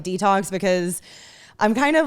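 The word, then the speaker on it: DeTalks: detox with allison and it's spelled d-e-t-a-l-k-s so like the word talking but to say it like detox because i'm kind of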